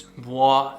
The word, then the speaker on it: bois: Next fragrance is Bua Imperial or Boise. I don't know if if you if you're French, they say the right pronunciation is BUA with a silent S.